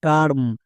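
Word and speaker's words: term: একই রকম ভাবে আরেকটি ওয়ার্ড দেখো টি ই আর এম, কি হবে টার্ম। কেন? কারণ এখানে ই এর ঠিক পাশে আর আছে, তার মানে সবাই বুঝতে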